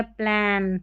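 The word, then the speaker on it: plane: यहाँ पर ए एन को एन पढ़ते हैं, लास्ट में ई है, इसलिए इस ए को हम ए करके पढ़ेंगे और इस ई का उच्चारण नहीं होगा। प्लेन हो गया।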